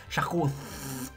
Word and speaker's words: Charcos: Il faut le prononcer Charcos. Comme Darkos dans Arthur et les Minimoys.